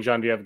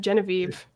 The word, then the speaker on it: Geneviève: That was me addressing Geneviève Giselle. Or this person who I do not know yet. I like to use the French pronunciation of Genevieve. Yeah. It's spelled that way.